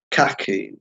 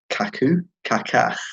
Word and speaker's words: Kaká: Anyone like Kaká. I was thinking Cafu, but then I was like, Kaku. I thought you meant the Derby manager. No. I just said it wrong.